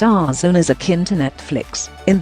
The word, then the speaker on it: DAZN: question mark basting at UK da Zandt and pronounced our zone is akin to Netflix in that it's a